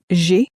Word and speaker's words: j'ai: I have in French, I have is j'ai. It sounds a bit like the English letter J pronounced in a French way.